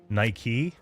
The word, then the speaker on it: Nike: is she by the way this is actually pronounced like Nike like the Brand This goes back this goes